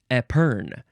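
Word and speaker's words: épergne: NE e yes this word is spelled not how you might think it's French of course epern it is a noun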